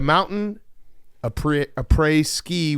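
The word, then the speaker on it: après-ski: Hitting the mountain a pre a app a pre ski rhymes with tea for a reason.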